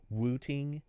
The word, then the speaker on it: Wooting: on keyboards like uh wooting makes one I'm yes I'm over pronouncing it but just so it sounds right it's w t iing g wooting is the new Pro